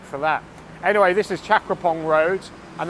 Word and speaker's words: Chakrabongse: Anyway, this is Chakraphong Road, and the reason why I pronounce it Chakraphong and not Chakrabongse, which is what the road sign says, is because it's something I can't explain. It's just one of those Thai place names that is spelt differently from the